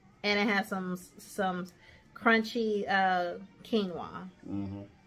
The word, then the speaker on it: quinoa: it had some crunchy quinoa. Quinoa. I had to make sure I said it right because I like to call it quinoa.